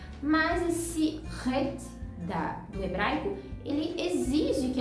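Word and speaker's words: ריש: esforço, porque em Israel esse som ele é bem forte, é um R muito forte. Eles falam isso com muita naturalidade, né? Para eles é muito fácil pronunciar o ret, mas para nós é preciso realmente um esforço a mais. É complicado, no início vai ser difícil você dar essa ênfase nesse R mais forte, mas é tudo questão de costume também.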